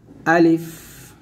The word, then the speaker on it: ا: আলিফ, আলিফ, আলিফ টান দিবেন না, তাড়াতাড়ি পড়তে হবে।